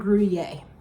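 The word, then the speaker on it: Gruyère: we are doing and I always mess this up Swiss and grer cheese I actually did listen to about six videos on how to pronounce it so Swiss and guier are the cheeses in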